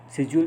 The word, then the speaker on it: schedule: speak, pronunciation and accents, schedule versus schedule. Schedule is what they say in the United States, and schedule is what they say probably in England, northern India.